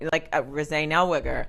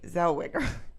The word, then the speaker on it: Zellweger: And then when they said her name, I was like, that's actually not Rosé Nellweger.